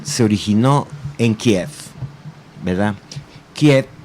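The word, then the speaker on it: Kyiv: originó en kiev verdad quiet que ahora está de modo decir porque así es como se pronuncia realmente no bueno fue el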